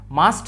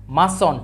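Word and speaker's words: mustn't: এটা হচ্ছে মাস্ট নট মাস্ট নট একসাথে হয়ে গেছে এরকম এবং এটা উচ্চারণ করবো আমরা মাস্ট মাস্ট মানে টি টা সাইলেন্ট হয়ে যাবে টি টা উচ্চারণ হবে না কি হবে মাস্ট আই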